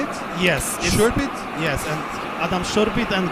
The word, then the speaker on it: Szurpit: Szurpit?